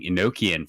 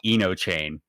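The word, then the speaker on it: Enochian: um when they were introducing inokian for black mage she called it eno chain like through the whole live letter and i was like what is enoch what kind of chain ability is this and it was just a complete mis mispronunciation of of the word and i just thought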